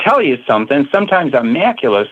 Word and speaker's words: macula: your eye and that island is called the macula. That rhymes with Dracula.